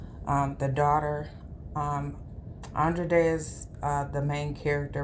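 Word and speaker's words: Andra Day: Glenn Close as the mother and I think Andre day is how um you pronounce her name um the daughter um Andre de is uh the main character Mo'Nique is also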